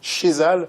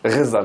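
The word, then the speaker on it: Ghezzal: Il y a Rachid Chezal. Rezal. Oui. Vous le prononcez comment? Rezal. Ouais.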